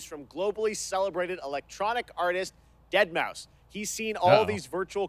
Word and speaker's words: Deadmau5: This is your good friend Joel, professionally known as Deadmau5. Yes, that is the correct way to pronounce it.